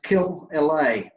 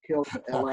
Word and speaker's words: Killelea: It's a, first name's Steve, second name's Killelea. So to pronounce it properly, all you got to do is think of Los Angeles and think of killing him. Kill LA.